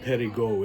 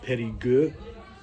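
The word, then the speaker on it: Périgueux: And last time I said Perigueux, it's actually pronounced Perigueux.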